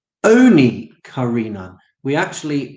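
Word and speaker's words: עני: For Rabbi Yossi Haglili, so hang on a minute then, Rabbi Yossi Haglili, mikarin on ani, does the word get pronounced ani, as if it's a poor man? Oni karinan.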